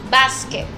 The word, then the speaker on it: basket: Tenemos que pronunciar muy bien la T al final. Basket.